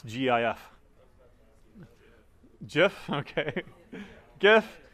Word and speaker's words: GIF: GIF. It's graphics, right? So it'd be g. Soft G, right? It's not a peanut butter, okay?